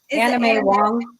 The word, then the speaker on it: Anna May Wong: Okay, so pronounce her name for us. Anna May. Anna May Wong.